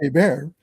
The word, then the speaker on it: Hébert: Well, Hébert is spelled Herbert, so it's Herbert, but it's pronounced Hébert.